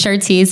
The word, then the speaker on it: Chartece: Chartece, there you go.